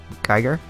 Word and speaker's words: Geiger: Geiger. That's how you pronounce it.